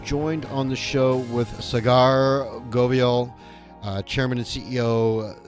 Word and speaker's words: Saagar: the otc all right cigar welcome to the show how are you good michael thanks for having me my pleasure am i pronouncing your name correctly it's uh it's pronounced sagar sagar thanks for helping me